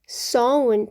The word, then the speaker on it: sewn: 골드 드래곤, sewn, 바느질, 수놓은, sewn으로 발음합니다.